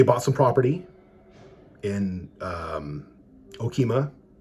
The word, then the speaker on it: Okemah: some property in um Okemah no keema got a guy trying to say it like Aunt Darlene but um so no